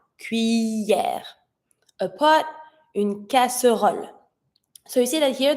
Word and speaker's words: casserole: The E that has no accent, no nothing, in the middle of a word is the E sound, casserole. But if you want to sound more natural when you say it, we tend to not skip it, but pronounce it just slightly. So instead of saying casserole, we tend to say casserole. Casserole. So you hear it, but very slightly.